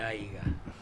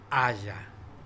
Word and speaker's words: haya: Y estaba- hablando de autos, si yo vos te digo, che, no se dice aiga, Sí, se dice haya.